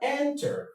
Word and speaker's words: enter: Then, we have enter. Enter. Enter is a verb. Now, look at with enter. Enter is a verb. And now, the stress goes on the first syllable.